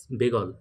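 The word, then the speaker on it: Beagle: এ জি সি এল ই বেগল উত্তরটা কিন্তু উচ্চারণটা কিন্তু হবে বেগল এইচ এমএস বেগল তাহলে ডারউইনের জাহাজ যে করে ভ্রমণ করার সেই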